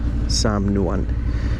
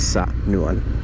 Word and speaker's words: samnuan: That's why it's samnuan and not sa-nuan.